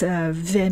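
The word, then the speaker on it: וְ: vav letter vav is pronounced as v that means and yom velaila yom velaila that means day and night the second example is mom and abba means dad of course ve means and we pronounce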